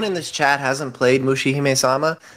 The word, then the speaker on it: Mushihime-sama: butcher this, so Josh, you'll have to correctly pronounce it. You're talking about Mushihime-sama? Yes, thank you. Yeah. If anyone in this chat hasn't played Mushihime-sama, like that's my homework for you.